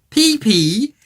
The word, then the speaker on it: Pippy: It's pronounced pee pee.